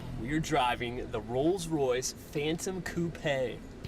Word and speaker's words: Coupe: We're driving the Rolls-Royce Phantom Coupe. Rhymes with toupee, but much classier.